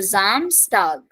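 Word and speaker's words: Samstag: dare Zam star so starting from s pronunciation Z so the Middle s will be pronounced as s only only the starting s will be pronounced as Z so Zam stag Sunday is called de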